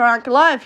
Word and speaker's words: Ankalaev: I actually feel for Ankalaev here. Funnily enough, that's how it's said.